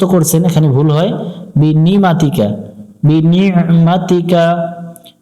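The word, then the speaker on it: بنعمتك: কা মাতিকা বিনিমাতিকা এখানে একটু আইনটা গলা চেপে উচ্চারণ করব বিনিমাতিকা এটা অনেকজন যারা বাংলা দিয়ে মুখস্ত করছেন এখানে ভুল হয় বিনিমাতিকা বিনিমাতিকা আবু উলাকাবিকা আইন জবর আ লাম ইয়া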